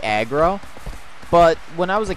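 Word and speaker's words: Agro: you listen to it closely he does say aggro but when i was a kid it always sounded like he was saying i'll go so that's how i would always pronounce it but i recently found it or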